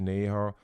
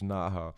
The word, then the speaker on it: Naha: we were associated with um the great neher um am i pronouncing your name correctly uh nah as usual okay great naja um thank you so much for making